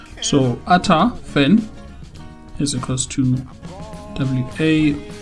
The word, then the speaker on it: eta: It's a Greek letter, eta, written as eta, but pronounced as ata. So, ata fan is equals to WA uh P input.